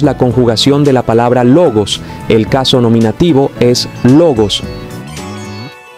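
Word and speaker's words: λόγος: por ejemplo la palabra logos es una palabra paroxítona que cuenta en el caso nominativo con un acento en la penúltima sílaba la palabra logos tiene dos sílabas lo y gos para estas palabras la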